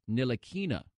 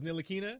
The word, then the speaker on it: Ntilikina: And Shannon, it is Frank Ntilikina. Did you remember that it was Ntilikina?